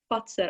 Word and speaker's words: Fazer: Fazer.